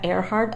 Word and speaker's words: Earhart: Al parecer sí se pronuncia airhard, aunque en inglés las primeras tres letras es ear, como oreja, pero bueno, pronúncienlo ustedes como quieran, ¿verdad?